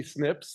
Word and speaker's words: SNP: don't have to be Snips they could be and that's how we pronounce that SNP snip but there are other